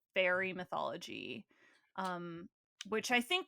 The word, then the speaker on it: Faerie: This book is apparently in a genre known as, like, fairy, spelled Faerie, fairy, which very. is, like, I think an old English kind of word that refers to like fairy mythology, um, which I think can encompass a lot of mythical creatures.